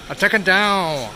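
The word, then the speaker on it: Atakadão: speaking Portuguese how uh Brazilian Portuguese is pronounced attack down attack down uh the nasal sounds and how the words are kind of stretched out taka down know the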